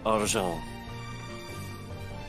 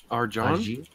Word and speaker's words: Argent: Argent. Argent? Argent! Jean? No, not Jean. Argent. Do I have to Argent? spell it out for you? Arjan?